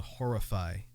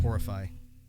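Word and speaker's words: Horrifi: The title for this one is called Horrify, but it's spelled differently. It's spelled like Horrify, HORRI-FI, like lo-fi, because of the lo-fi distortion and fuzz over it.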